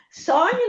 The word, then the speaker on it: sogno: Sogno non è dolce, è aspra.